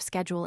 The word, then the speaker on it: schedule: the American pronunciation of schedule in England. The slash is always given the soft sound, but Webster decided for the hard sound, as in scheme.